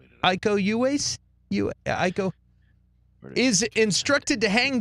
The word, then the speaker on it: Iko Uwais: Iko Uwais.